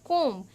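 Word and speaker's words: comb: तो यहां पर बच्चों एक हमको करके दिखा रखा है फर्स्ट देखिए फर्स्ट में लिखा है कोम।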